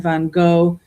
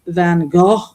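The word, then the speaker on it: Van Gogh: I I mean, Americans have always said Van Go. Apparently, it's supposed to be Van Go if you say it right.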